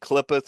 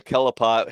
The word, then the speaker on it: Qliphoth: Well, it wasn't until I was looking something about the Qliphoth or the Kelipot, however you want to pronounce it.